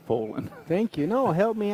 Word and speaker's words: Phelan: Stan is playing Stephen Phelan, so... I don't want to get into this again, but I believe it's pronounced Folan.